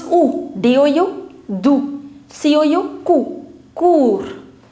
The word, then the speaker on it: cours: Cours. S being the last consonant, you will not pronounce it.